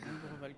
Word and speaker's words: Ombreval: Ombreval, comme ça, c'est la Allez-y.